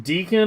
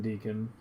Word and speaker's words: Deacon: But yeah, Dan Deacon. Spelled like beacon, but with a D.